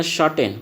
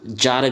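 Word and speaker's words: tsar: तो रूस के राजा को क्या कहेंगे, सार कहेंगे, या इसका कहीं कहीं पे प्रोनाउंसिएशन जार भी होता है।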